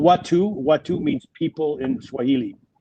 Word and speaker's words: Watu: And it's called Watu. Watu means people in Swahili. Spell that for me.